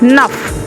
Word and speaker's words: neuf: 9 NEUF, nuff.